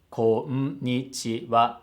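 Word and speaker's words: こんにちは: So, こんにちは has 5 moras. But the way they said it, it sounds like it only has 4 moras. こんにちは, こんにちは. So you have to give a full mora that it deserves.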